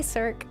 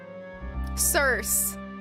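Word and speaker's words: Circe: They call me Cir. Am I pronouncing this right? Cir C I R C E am I that feels wrong. What is Hold on Google. Cerse. They call me Cerse.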